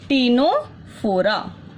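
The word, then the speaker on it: Ctenophora: ठीक है, then is your टीनोफोरा। Likewise इसमें हमारे पास सी क्या है? साइलेंट है।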